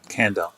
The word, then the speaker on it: Kandell: out here with okay your last name is pronounced candle candle okay so robert